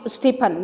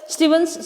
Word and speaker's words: Stevens: stevens uh stevens school we will not pronounce it stephan no it is stevens school mumbai subject invitation to